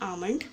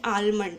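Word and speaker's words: almond: इसको कहा जाता है आमंड। Most people pronunciate this ad आलमंड। ये आलमंड नहीं होता, दिस इज़ आमंड।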